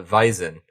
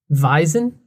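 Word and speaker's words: Wiesn: you call it uh vizen you call it what and apparently vison vise w-e-i-s-i-n something like that um but i i know that the w is pronounced like a v but yeah you call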